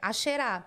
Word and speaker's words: Asherah: A pronúncia é essa mesma, né? É Asherah, né?